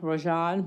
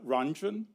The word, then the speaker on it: Ranjan: It's Ranjan Ranjan. Thank you, sir. As my, one of my relatives, Texas relatives, I'm not originally from Texas, she said it rhymes with dungeon. Okay, So it's Ranjan rhymes with dungeon, so if that helps.